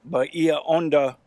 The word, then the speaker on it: Bahia Honda: and I'm super excited yeah we're at the Bahia Honda state park I think that's how you say